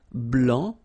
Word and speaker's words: blanc: okay so here masculine BL don't pronounce the final C and then blanch okay